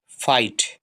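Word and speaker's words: fight: इसी तरह से FI, फाई और T से टा, GH साइलेंट है, क्या है? फाइट, फाइट।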